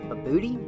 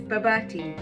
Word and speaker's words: Bobotie: Let's go have a laugh at people trying to pronounce Bobotie. Bobotie. God, I love to say that. Bobotie. Bubble tea. Bobotie. Babootie? Bobotie? This is Bobotie.